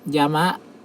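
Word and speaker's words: 山: ครับ เช่น คำ ว่า คำ นี้ นะ ครับ ยา มะ ครับ ซึ่ง แปล ว่า ภู เขา ครับ เป็น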